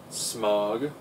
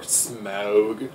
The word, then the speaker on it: Smaug: Very good voice work in when he was Smog, or Smaug, depending on how you want to pronounce his name.